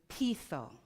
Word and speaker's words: peitho: Now, when I look for where did this word originate from, it comes from the Greek word peitho. Peitho, it's spelled P-E-I-T-H-O, which means to persuade.